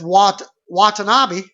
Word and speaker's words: Watanabe: I was mispronouncing Watanabe. That's the name, Watanabe. It's Watanabe.